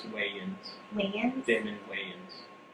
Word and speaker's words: Wayans: Wayans. It's Wayans.